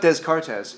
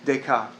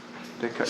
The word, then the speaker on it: Descartes: Do you notice a third of the language is silent? It's not Descartes, it's Descartes. Descartes.